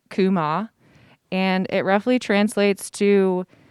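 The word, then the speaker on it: קומה: has a title that's written in hebrew it's pronounced kuma and it roughly translates to rebirth revival resistance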